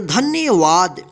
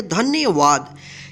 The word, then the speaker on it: धन्यवाद: इसको धन्यवाद नहीं पढ़ेंगे, क्या पढ़ेंगे, धन्यवाद। यानी जहाँ पे भी आधा अक्षर रहे वहाँ पे उसमें जो है ना, यानी उस अक्षर के साथ अ का उच्चारण यानी अ का साउंड नहीं आएगा।